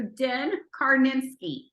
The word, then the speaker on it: Din Karnitskiy: I'm so excited and honored and privileged to introduce you to Den Karnitskiy.